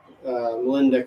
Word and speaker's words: Molendyk: Molendyk, I'm pretty sure is how you say it.